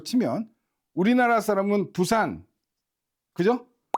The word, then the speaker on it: 부산: 팝송 발음으로 치면 우리나라 사람은 부산, 그죠? 근데 외국 사람한테 부산 절대 발음 못하죠. 푸산 하면서 호흡을 섞는단 말이에요.